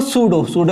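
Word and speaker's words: pseudo: ठीक है, तो फर्स्ट ऑफ ऑल देखो सूडो में पी साइलेंट होता है।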